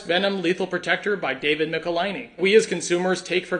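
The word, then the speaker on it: Michelinie: now by legendary writer David molini which by the way that's how you pronounce that name I I was I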